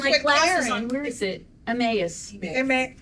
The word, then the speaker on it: Emmaus: Emmaus. Emmaus. Okay, thank you. I literally just practiced the pronunciation with Karen.